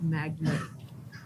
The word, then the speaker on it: magnate: Oh, well, because the word magnate is often pronounced magnet.